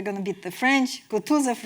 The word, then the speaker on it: Kutuzov: Kutuzov rhymes with Franzuzov, so it is funny as well.